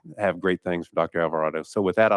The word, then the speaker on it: Alvarado: it very very well I get a lot of different pronunciations avocado Silverado uh just not El vardo please anything that last day